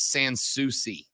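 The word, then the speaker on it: Sans Souci: I'm being told corre the correct way to pronounce it is sansi you didn't know either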